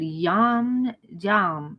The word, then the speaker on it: Jammes: He's French. So it's Jammes. But I think you pronounce it Yam.